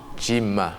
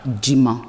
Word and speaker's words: Djiman: Djima. Djima. Djima. Oui, qui s'écrit D-J-I-M-A-N.